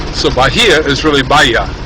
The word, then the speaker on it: Bahia: I've heard people say Bahia and in Spanish language sorry in in Spanish language the H is silent generally and then J is pronounced as an H so Bahia is really Baya B a pronounced b